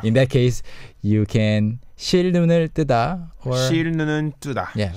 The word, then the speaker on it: 실눈: yeah, pronunciation-wise, what's interesting is even though it's 실 and 눈, Koreans often just link those together and say 실눈. 실눈. Yeah, 실눈, like two L's.